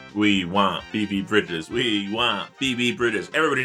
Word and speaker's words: Bridgers: Question, is there a Phoebe Bridges or have I just been mispronouncing fame superstar Phoebe Bridgers' name wrong the whole time? Uh no, it is Bridgers.